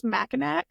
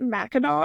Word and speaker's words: Mackinac: of this island like I thought it was MAAC uhuh because of how it's spelled and then when they kept calling it Mao I'm like there is an AC at the end of this how do we get an A sound right I'll come into